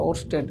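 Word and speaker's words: Oersted: আচ্ছা কোন সমস্যা নাই ওস্টেড এখানে ই উচ্চারণ হয় না এজন্য ওস্টেড আর ওয়ের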